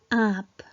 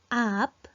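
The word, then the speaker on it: आँप: And this is aap, not aap. The right pronunciation is aap. With Chandrabindu, it's pronounced aap. So which means mango, aap.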